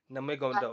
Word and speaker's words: Nurmagomedov: Oh gosh, how do you pronounce that last name? Nurmagomedov.